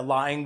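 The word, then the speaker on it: laing: dish that I'm strongly proud about it's called lying which is a how do you spell that l a i n g okay it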